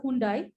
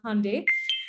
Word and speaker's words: Hyundai: the uh hyundai group what you call as a hyundai the right pronunciation is hyundai so i work with